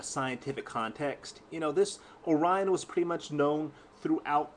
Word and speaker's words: Orion: surprised she did this was Orion it is pronounced Orion if you're going to